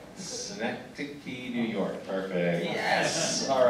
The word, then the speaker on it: Synecdoche: I'm going to mispronounce the title if you don't jump in and tell me what it's called. Synecdoche, New York.